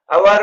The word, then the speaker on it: hour: अवर में S silent है और ओ वावेल साउंड, इसलिए अवर से पहले एन यूज होगा.